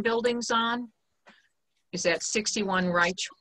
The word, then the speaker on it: Reich: And so the land that he has apparently has his farm buildings on is at 61 Reich. Am I pronouncing that right? Reich? Rich Road. R-E-I-C-H Road. Rich Road.